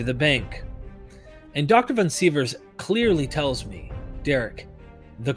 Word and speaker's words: Sivers: Is it Sivers, or am I saying it correctly? Sivers, yeah. Sivers. Correct.